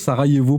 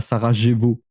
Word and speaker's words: Sarajevo: Le J c'est le Y Narvalo. Ça se prononce Sarayevo pas Sarajevo.